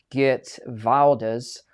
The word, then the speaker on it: Geert Wilders: They were going to cut the funding with the new PM there, Geert Wilders, as I'm told his name is pronounced. Apparently I pronounced it wrong before, right?